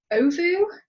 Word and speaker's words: Ovou: Reza is the founder of Ovou. Did I pronounce that right? That's correct.